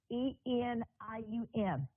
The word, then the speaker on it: selenium: I will spell it out so you can see it. It's SELENIUM.